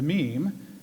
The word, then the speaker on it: meme: will forgive me if i abbreviate my meme to mean if it is any consolation it could alternatively be thought of as related to memory or to the french word ming it should be pronounced to rhyme with cream now this is hardly